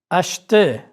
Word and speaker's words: acheter: R is not pronounced in the infinitive of ER verbs. Regardez. Acheter.